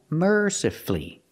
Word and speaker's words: mercifully: practice with merly again mercifully you have two syllables before f u l l y and the stress is on the first syllable so the U is silent you don't hear it mercifully not mercifully mercifully